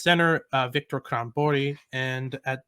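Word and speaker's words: Stjernborg: a bell it's because the spelling is very different than the pronunciation um it's spelled a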